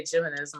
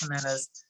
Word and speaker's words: Jimenez: weird I don't know I pronounced it wrong all the time it's Jimenez and I say geminism my husband's just like what are you doing and I'm like I know I know it's humans so I have no idea